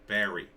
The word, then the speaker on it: Bearry: I, it's spelled bear, and then it's got a Y on it, two R's and a Y. Bearry.